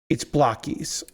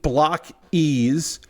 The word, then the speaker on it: BLOKEES: I've been saying BLOKEES because to me, the double E's does not mean block ease. It means blokees, like a bloke, without the C. They took the C away and added an E because they didn't want to be called blockies, which I get.